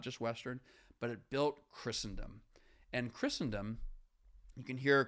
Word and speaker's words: Christendom: a particular King namely Christ hence Christendom not Christendom that some sometimes people mispronounce it Christendom okay so there is